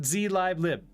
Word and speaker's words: zlib: You pronounce it zlib.